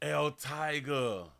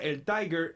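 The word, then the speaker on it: El Taiger: NBC 6 reporter Christian El Tiger, but they spell it T A I G E R.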